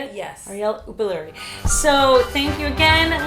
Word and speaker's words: Arielle Uppaluri: Arielle Uppaluri.